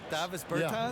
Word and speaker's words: Davis Bertans: Davis Bertans?